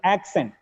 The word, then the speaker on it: accent: I repeat, whenever a word has double C, the sound for first C is always K. The second C may change. The sound for second C may change. If the second C is followed by E, I, Y, it gets S.